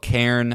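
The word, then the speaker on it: cairn: the game award summer game Fest yeah and it's spelled Karen uh c a i r n uh like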